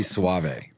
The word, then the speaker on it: Soave: Yeah, it's like the wine, not the shampoo. Sweeter. Sweeter? Yes. It's really Soave. But Soave?